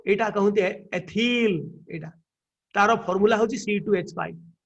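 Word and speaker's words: ethyl: इल एथिल ताको के लोक इथाइल Billy कहंती नो it should be pronounced as एथिल हला ताको जदि आमे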